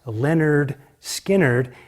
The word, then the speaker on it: Lynyrd Skynyrd: uh 1970 to the first album is called pronounced Leonard Skynyrd and of course the big song on that